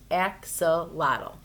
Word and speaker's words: axolotl: and in case you're wondering my name is pronounced axolotl deer spicebush Swallowtail caterpillar why are you staring